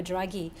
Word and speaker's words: Draghi: article in your web you quoted uh mario draghi um did i pronounce his name you got it yes the